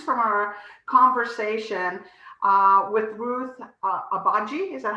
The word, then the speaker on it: Agbaji: So, Elizabeth, our question today stems from our conversation with Ruth Agbaji. Is that how I pronounce it? Agbaji. Agbaji.